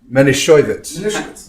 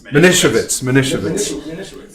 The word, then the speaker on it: Manischewitz: But Alan used to enjoy telling the story that they pronounced it Manischewitz. Manischewitz.